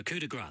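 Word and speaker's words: Coup de Grâce: So Coup De Grace, that's how we're pronouncing the title.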